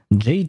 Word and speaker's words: Jade: voice lines I see Jade chamber oh his name is Jade interesting ah I mean in French we would pronounce it Jad as for the the